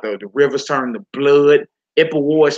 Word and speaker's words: Ipuwer: Ipuwer is spelled I-P-U-W-E-R.